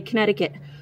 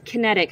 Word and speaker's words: Kinetic: i said it right normally i say connecticut but it's kinetic from total detailing auto